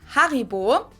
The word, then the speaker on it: Haribo: Pronounce it Haribo.